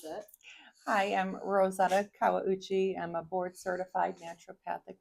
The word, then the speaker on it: Kawauchi: I'll have her say her last name because I cannot pronounce it. Hi, I'm Rosetta Kawauchi.